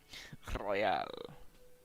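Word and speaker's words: réal: Royal. He pronounces the R with a mock aristocratic accent.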